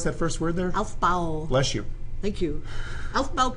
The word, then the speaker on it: Aufbau: Aufbau. Bless you. Thank you. Aufbau Principle. It turns out Aufbau is a German word, right?